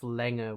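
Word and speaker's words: Länger: and then we have Langer which is pretty straightforward it means length but also here very important to note there is the modified a which is a and that is always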